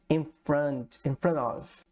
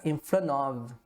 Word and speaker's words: in front of: Uma dica de pronúncia aqui também, pessoal, é muito comum, né? A gente omitir letras, né? Aqui no caso a gente pode omitir o T e conectar já o N.